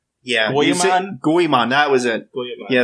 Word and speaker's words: Goemon: I would have to hear it to even be able to pronounce it again right. Yeah. Goemon? Goemon, that was it.